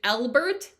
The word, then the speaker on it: Elbert: The group was started by a man named Elbert, like Elbow, but Bert.